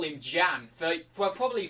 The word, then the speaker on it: Jan: And his name was Jan, right, with J-A-N. And I used to always call him Jan for probably 3 years, right? And then it came out that his name is actually pronounced Jan, like Y-A-N.